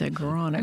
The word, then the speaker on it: agronomy: It's not astronomy. It's agronomy.